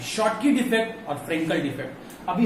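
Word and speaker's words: Schottky: According दे दिया, मतलब शॉटकी और फ्रेंकल डिफेक्ट। प्रोनाउंसिएशन इसका सही रखिएगा, शॉटकी, शॉटकी, शॉटकी मत पढ़ दीजिएगा। शॉटकी इज the correct pronunciation of this word, शॉटकी एंड the Frenkel defect.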